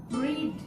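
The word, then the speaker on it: read: 7, রিড the news paper. Let the news paper be রেড। রিডের past tense এবং past participle form একই, বানানের কোনো change নেই, just pronunciation রেড।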